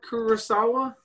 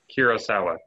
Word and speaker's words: Kurosawa: lucas right right right so how do you spell it kira kurosawa it's akira like the anime a-k-i-r-a okay i see it kirosawa k-u-r-o-s-a-w-a oh so i do like the fact